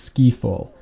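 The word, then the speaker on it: Skifall: bond film skyfall but it is actually pronounced ski fall as the actual map is a ski slope you throw your beans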